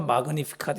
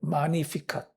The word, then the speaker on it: Magnificat: 라틴어니까 마그니피카트 이렇게 됐었겠죠. 그걸 이제 한국말로 들여오면서 가톨릭 교회에서 그냥 마니피카트 G 발음을 빼가지고 그게 인터넷 이런 데 보시면은 마니피카시라는 이름으로 많이 나옵니다.